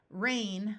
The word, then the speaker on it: reign: Reign with a silent G, which refers to royal authority.